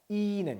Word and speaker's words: Ihnen: Wie geht es Ihnen 이렇게 특히나 이하고 하가 붙어 있으니까 앞에 있는 몸을 길게 발음하는 거 기억하시면 되겠죠. 그래서 Ihnen 하고 Ihnen 다르죠. Ihnen 이렇게 하시면 되겠죠.